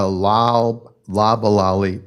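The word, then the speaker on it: Loblolly: it up such as an Italian Cypress or La lalali Pine that is spelled l o b o l l y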